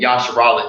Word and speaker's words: Yashara: we want to and yashara just simply is uh the Hebrew word for the Hebrew pronunciation of Israel all right so when